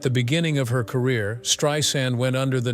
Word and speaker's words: Streisand: Streisand has always been vocal about how her surname should not be pronounced with a Z sound, like in Strand. Instead, it should be pronounced like sand on the beach.